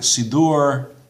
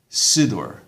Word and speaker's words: Siddur: While in Sephardi pronunciation, the accent is usually on the final syllable. The accent is on the final syllable. In Ashkenazi pronunciation, the emphasis is usually on the second last syllable.